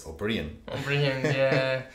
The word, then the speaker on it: O'Brien: you're Liam O'Brien mmm even though it's spelt or for the Bri AI n mmm I say no it's obreon yeah what I was